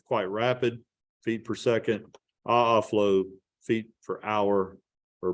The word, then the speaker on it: aa: However, there's a second type, not quite as photogenic, called aa flow. It's spelled A, capital A, little a, aa.